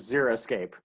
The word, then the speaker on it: xeriscape: spelled x-e-r-i-s-c-a-p-e so yeah so many people say zero escape but it is zero escape right yeah yeah so